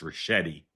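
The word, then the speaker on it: Ricchetti: I I will politely and and gently say tell you the name his name is pronounced Rashetti.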